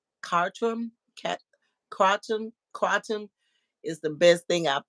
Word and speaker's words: kratom: Okay, pronounced Kratom. See y'all feel me. Y'all know I'm slim slow with certain words. It's pronounced Kratom.